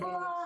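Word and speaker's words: Fou Fou Ha: Foo-Foo-Ha have Instagram? Yeah. How do you spell it? It's FOU Oh. space FOU I already messed space that up. HA. Okay. Foo-Foo-Ha.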